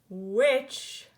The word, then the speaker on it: which: forget him from the team but there T is silent watch ah spelling word alert why just like in which Y has a silent H what I you